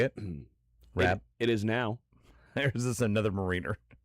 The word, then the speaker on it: Rabb: Rabb?